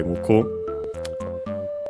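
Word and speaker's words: 向く: Muku means to turn toward, unaccented by the way, muku.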